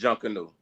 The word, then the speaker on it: Junkanoo: Right, it's Junkanoo.